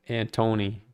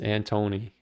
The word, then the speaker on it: Anthony: They all call me They all say uh Antony. They don't for some reason they can't pronounce the H. It's Antony.